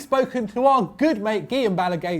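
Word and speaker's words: Guillem Balagué: to our good mate Guillen Bala gay not Gilliam to see what he thought about the matter only getting there getting that Spanish pronunciation down early but surely nevertheless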